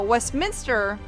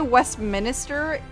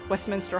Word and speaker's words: Westminster: and i know hollister now westminster is spelled west minister but if you say west minister you will be uh found and flogged upon the wall of whatever high school you are attending the local high school